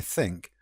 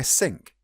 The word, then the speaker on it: think: For example, people mispronouncing it when they want to say I think will sound like they're saying I sink. I sink that.